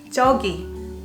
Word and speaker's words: 저기: hear what I'm saying jockey I almost dragged the first syllable style so normally Korean people when they wanna emphasize how far it is we're gonna drag this down Jogi they're talking there togi